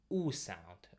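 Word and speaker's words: У: actually, but still, so this one is usually in English, it's Y, Y. But in Russian, it will be more like in English, we're gonna say U sound, U sound.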